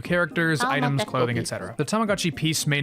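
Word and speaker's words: Tamagotchi P's: In November 2012, they released the Tamagotchi Peace. That's spelled like Tamagotchi P apostrophe S. So for English speakers, it's pronounced like peace. So Tamagotchi Peace.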